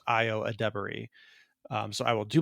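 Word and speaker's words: Ayo Edebiri: uh I saw a video on how to pronounce your name properly it's like IO ad debery um which I I had previously pronounced it AO edir uh but I believe it's properly pronounced IO adri um so I will do my best to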